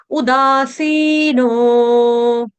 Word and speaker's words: उदासीनो: में जगह-जगह वर्ड आए उदासीनो सी दीर्घ है दा दीर्घ नो दीर्घ तीनों मात्रा यहां पर क्या है दीर्घ है बस उ आपका क्या है ह्रस्व छोटा उल्लू वाला उदासीनो गतव्यथः गतव त के